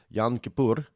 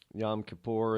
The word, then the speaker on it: Yom Kippur: Somebody told me how to pronounce it. I think I got it. Yom Kippur.